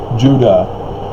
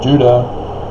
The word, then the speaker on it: Judah: know like i said judah phonetically the same as utah because it's not a j sound that's the latin based languages european corruption call it j or uh the spanish turned it into an h and it just all